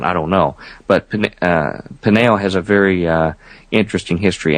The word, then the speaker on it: Peniel: Jacob names that place Peniel, P-E-N-I-E-L, slightly different spelling, Peniel, almost identical pronunciation.